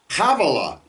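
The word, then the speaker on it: חֲוִילָה: You'll notice that also begins with a There are a lot of names in the Bible that we put the H in front of that's not an H. Okay. Uh here's one, Kavala.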